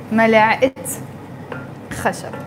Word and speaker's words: ملعقة خشب: That's why I pronounce the T مربوطة and I say ملعقة خشب.